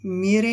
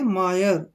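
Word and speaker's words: mire: प्रशंसा करना अब जैसे यह एम आई आर ई मेरे नहीं है ये इसको पढ़ेंगे मायर मायर क्या पढ़ेंगे मायर मायर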